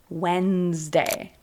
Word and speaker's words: Wednesday: Similarly, words like Tuesday or Wednesday, that's how it looks, but we say Wednesday.